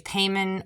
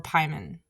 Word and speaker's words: Paimon: had p in it I've heard it pronounced both ways payman or pman um take your pick so here is the